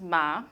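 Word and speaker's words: 吗: question in Chinese and that's pronounced ma so just like this radical here but obviously has nothing to do with horses right questions have nothing to do with horses so you just have to know that you're gonna pronounce it ma but has nothing to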